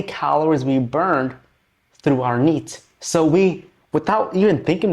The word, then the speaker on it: NEAT: Or you can simply pronounce this as NEAT, N-E-A-T.